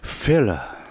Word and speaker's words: 필러: 필러. 아, 그러니까 필러. 아자가 들어가네. 아가 있었어. 앞에 약간, A가 있었네. 앞에 F. A를 붙여. F. 필러 필러. 이런 식으로. 필러.